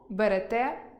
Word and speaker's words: берете: Беремо – берете, веземо – везете, несемо – несете, ідемо – ідете. Перша особа множини (ми) з наголосом на -о та друга особа множини з наголосом на останнє -е.